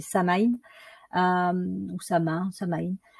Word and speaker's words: Samain: gaélique celtique et alors je sais pas très bien le prononcer je crois que c'est sa main donc ça m'a ça